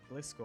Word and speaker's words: Gliscor: thought it was pronounced Gliscor and not gcore but its name comes from the word Glide in scorpion so it's pronounced gly as in Glide and score as scorpion question four what is